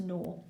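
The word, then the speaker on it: gnaw: she wants something can it looks like it's spelt incorrectly but it's actually starts with the letter G you know it looks like but it's pronounced nor and ignore doesn't rhyme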